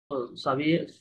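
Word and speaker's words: s'habiller: Double silent, Sabie সাবিয়ে a la আলা francés.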